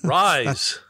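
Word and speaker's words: Rhys: I don't know who Reese Iffens is. Oh, you've seen him in a zillion things. Rise. Rise? Oh, yeah. Sorry, Rise.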